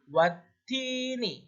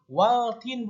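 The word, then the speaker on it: وَالتِّينِ: Contoh watini ya, dibacanya watin bukan waltin, bukan waltin, apalagi butin, nah, bukan butin ya, tapi watini ya, bukan waltin, karena ini hukumnya alif lam syamsiyah, sehingga alif lamnya tidak dibaca.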